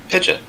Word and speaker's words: Pidgeot: Yeah, we've had a lot of good debates about how to pronounce its name. Pidgeot? Yeah, so you should... Pidgeot.